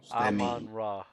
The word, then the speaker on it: Amon-Ra: Amon-Ra St. Brown. The Sun. Say it. The Sun. Amon-Ra. Hold on, wait. I gotta say it phonetically so Dub can spell it.